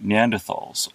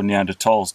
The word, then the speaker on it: Neanderthals: These were created by Neanderthals, or Neanderthals to use the correct pronunciation.